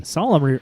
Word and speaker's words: solemn: it's the limited t solemn rhymes with gollum yeah just like me